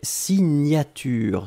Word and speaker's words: signature: Deuxième chose, un substantif et c'est signature. Souvenez-vous, le GN, la prononciation c'est gne gne gne gne gne.